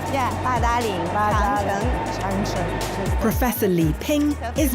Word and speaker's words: Badaling: So I pronounce it Badaling. Yeah, Badaling, Changcheng.